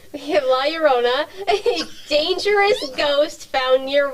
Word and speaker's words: La Llorona: him never you have la la rona who's a dangerous it's no it's la llorona spanish why'd you say it